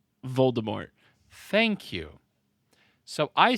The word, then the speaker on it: Voldemort: And how do you pronounce the villain's name? Voldemort.